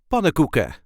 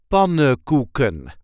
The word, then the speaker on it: pannenkoeken: The emphasis is on the first syllable. Pannenkoeken. Pan-NEN-KOE-KEN. Pannenkoeken. And as you can hear, I did not really pronounce the N's in the first part. So we generally just say pannenkoeken. So we did not pronounce the third N and the fourth N.